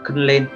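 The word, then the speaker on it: 訓練: Huấn luyện thì cách đọc của nó là khân lên. Cách đọc của nó là khân lên.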